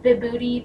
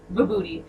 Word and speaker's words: Vibhuti: Crescent moons, snakes, tiger skins, and I think this is pronounced vibhuti, but don't quote me on that.